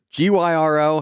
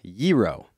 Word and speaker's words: gyro: a what a giro g-y-r-o some people call it a gyro some people call it a hero i believe the greek pronunciation is giro really uh-huh i think